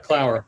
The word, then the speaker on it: Clower: you did it right clower it's like hour or flower or perfect flower perfect